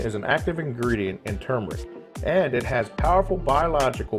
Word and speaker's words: turmeric: Number 3, turmeric, or turmeric. I hear people pronounce it both ways, but I'm pretty sure it's turmeric.